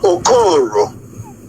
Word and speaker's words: Okoro: I know it's spelled like O-K-I-O, but the pronunciation is different. Dr. Okoro, because we have people running around here confusing on people who wants to play a role.